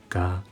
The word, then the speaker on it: が: が is called “sound” in Japanese, ゆうせいおん When saying が, the position of the tongue and the method of cracking sound are exactly the same as that of か. Then, what's the difference? It is to vibrate the vocal cords.